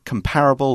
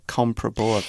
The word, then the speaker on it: comparable: France they were comparably comparable or comparable yeah it's the word yeah comparable is probably easier is the easiest way to slice a comparable yeah comfortable they're both correct yeah comparable is just